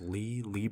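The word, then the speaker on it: Leigh: six of crows by I believe her name is pronounced Lee Lee bardugo I always remember that's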